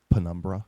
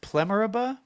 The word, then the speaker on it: penumbra: Didn't they the What's penumbra? the- Didn't they Plemuraba?